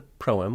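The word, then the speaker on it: proem: odyssey also known as the pro-m which means the thing before the song even though it sounds like the word poem but they're not related anyway it's the first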